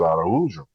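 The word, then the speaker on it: Araújo: Now, we had a Portuguese player in Atlanta with the last name, but he pronounced it Araujo. That sounds about right. The J is different.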